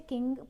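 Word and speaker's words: Qing: का नाम रखा है जिसे किंग प्रोनाउंस किया जाएगा, लेकिन इसकी जो स्पेलिंग है वो टोटली डिफरेंट है उस किंग से जो राजा महाराजा के लिए यूज़ किया जाता है.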